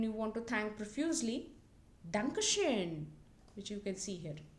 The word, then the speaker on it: Dankeschön: Just like U umlaut here, this is O umlaut. Dankeschön.